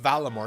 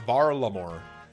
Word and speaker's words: Varlamore: I love that there are still people who cry in my comments about that's not pronounced Valamore, it's Varlamore.